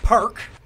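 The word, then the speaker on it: Parke: tronald though that's an easy one that one's phonetically spelled for me so perk why he e he's not French is he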